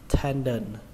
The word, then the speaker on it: tendon: Trọng âm của nó rơi vào âm đầu tiên, âm ten, âm ten ở trong tiếng Việt đó là âm ten cửa đấy, chúng ta lấy chữ ten nó ra. Và âm thứ hai là đờn, tendon, tendon.